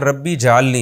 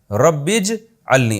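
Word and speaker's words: رَبِّ اجْعَلْنِي: नमाज़ कायम करने वाला इसको लोग अक्सर पढ़े हैं रब्बी जलनी ये गलत है रब्बीज अलनी असल में था रब्बी इज अलनी अलिफ साइलेंट हो गया ऐ मेरे रब बना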